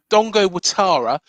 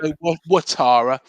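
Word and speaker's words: Dango Ouattara: go Kelly left back, Dongo Watara. Believe it or not, it's spelled Dango Utara, but it's Oh, right. Dongo Watara. That's how to say it, pronounce it in French.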